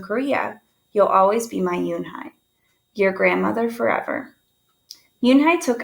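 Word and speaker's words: Unhei: Your name is Yoonhee? He asked with his eyes open wide. Yoonhai looked quickly at Mr. Kim, then turned to Joey. She nodded slowly. Yes, it's pronounced Yoonhai.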